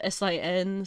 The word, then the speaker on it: Sin: It's like Cindy maybe, but it's spelled S-I-N, so it's Sin is what they call her.